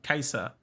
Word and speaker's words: Caesar: he called guys cesaro kaiser i know that's how it's actually pronounced if you didn't know so in classical latin the letter c is actually pronounced like a k so it's a hard